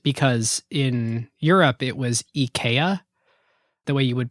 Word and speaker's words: IKEA: should be pronounced because in Europe it was Eaya. The way you would pronounce it as a Swedish person is EA. And the ad campaign they decided Americans are just going to pronounce it IKEA.